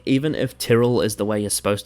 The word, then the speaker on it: Tyrell: According to the TV series official pronunciation guide, developed for cast and crew in Season 1, Tyrell is officially pronounced Tyrell. Because that's what Loras calls their name.